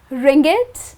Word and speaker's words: ringgit: In Malaysia, people use the currency called ringgit. Well yes, that's quite an interesting name. Well that's how it's pronounced as ringgit and the ISO code for the currency, ringgit is MYR.